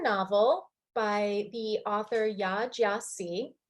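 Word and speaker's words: Gyasi: Jiasi is how you pronounce her name.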